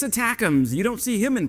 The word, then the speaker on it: ATACMS: And before we jump in, what the heck is ATACMS? Well, ATACMS, pronounced like attack m's, just think about Steak-umm's, used to be the belle of the ball.